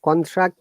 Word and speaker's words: contract: So when it is noun, how we should pronounce, Monica? The similar pattern like the previous word. Okay, contract and contract. Contract, stress on it.